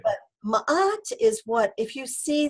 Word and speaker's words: Ma'at: Ma'at is spelled M-A, and there's a little apostrophe A-T. So it's like Mat, but Ma'at, okay?